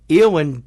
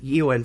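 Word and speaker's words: Éowyn: Or Eowyn, actually, is how it's pronounced. Not yeah. Eowyn. Sorry.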